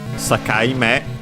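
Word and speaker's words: 境: Sakaime, accented on the last one, and means a compound of Sakai. Let's see its accent. Okay, actually on the ka, so Sakai, which means border, boundary,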